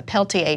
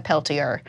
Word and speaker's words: Peltier: a different application of a Peltier device or a Peltier it depends on if you use French pronunciation or not but it's essentially a